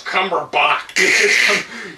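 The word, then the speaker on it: Cumberbatch: said that 20 people it's cumberbach you it's pronounced like Johan Sebastian batch my wife has a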